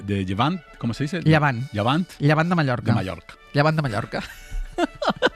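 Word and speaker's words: Llevant: Llavant.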